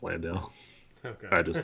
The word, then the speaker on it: Landale: Lawndale. That's not actually how you say his name, right? Because I heard a commentator saying Lawndale the other night. Is it Lawn? Have I been saying it wrong? No, it's Landale.